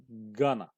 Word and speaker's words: going to: going to دايما نلاحظ انه حرف الجي لا ينطق، لا يلفظ. going going to going to going to. وايضا حرف الاو ينطق خفيف، يعني as شوا. going to going to. ايضا going to هذه تنطق gonna gonna، وهي إحدى طرق التعبير